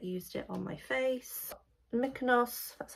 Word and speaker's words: Mykonos: Mykonos, that's how you pronounce it.